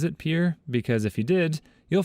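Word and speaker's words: Pierre: grade teacher she was pronouncing the state capital of South Dakota Pier wrong but she kept saying P two syllables like the French name and he said it was Pier one syllable like what you fish off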